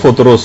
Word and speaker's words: فطرس: فطرس کا، فطرس۔ اچھا، اس کو الگ الگ طریقوں سے لوگ پکارتے ہیں، لیکن اصل میں اس کا جو تلفظ ہے وہ فطرس ہے۔ اچھا، اس فرشتے کا